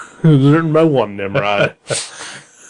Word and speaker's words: Nimrod: It was written by one Nimrod. Is that how you pronounce his name? I would guess so. It's spelled Nimrod.